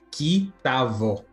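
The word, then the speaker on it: כִּי תָבוֹא: palavra ali naquela frase, só pelo fato de ter colocado o tav na frente da palavra bo, então é pronunciado como um V, então ali virou um kitavô, quer dizer quando entrar.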